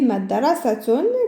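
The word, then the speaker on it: مدرسةٌ: Tant que le tsa, il n'y a pas de harakat, je ne vais pas la prononcer. Si je mets damma et damma, ça fait madrasatun qui signifie école.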